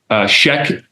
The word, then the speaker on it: Sheek: a great young man Sheek is how you would pronounce it um he uh yeah